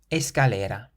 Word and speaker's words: escalera: Escalera. Escalera. So the C is followed by an A, meaning it's pronounced like a K, and this word means staircase. Escalera.